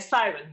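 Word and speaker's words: Samhain: Can you say the right pronunciation of it? Siren.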